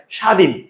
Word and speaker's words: স্বাধীন: যেমন ভাইয়া স্বাধীন লিখতে আমরা বফলা লিখেছি। বলতে সেটার উচ্চারণ হয়নি।